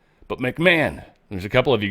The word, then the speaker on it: McMahon: So yes, McMahon. It hurts my brain. For some reason, this word's a speed bump on my brain. I want to say McMahon. I almost said it right on accident.